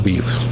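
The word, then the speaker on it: Kyiv: massive troop motion towards the beef okay that's the right way to say it okay i want to make sure i get that because i know it's not kia vs keith yeah so um any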